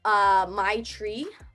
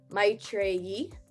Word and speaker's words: Maitreyi: There's obviously the really anglicized ways like Maitreyi, right? Like my tray. Like, I don't. But for me, I like it to be pronounced Maitreyi, right? Because there's like the Y-I at the end.